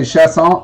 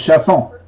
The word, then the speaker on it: Chasson: So Chasson, they can say Chasson, Chasson, but the correct pronunciation in French is Chasson.